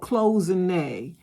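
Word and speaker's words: cloisonné: Just say Google uh pronounce closing. It's called closene.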